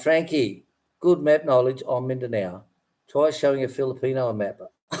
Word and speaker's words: Mindanao: thing it's pronounced Mindanao Mindanao you see how it's